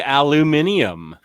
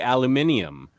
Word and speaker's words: aluminium: Australians say aluminium. Aluminum. Yeah, it's aluminum, but they add an extra I to it and say aluminium.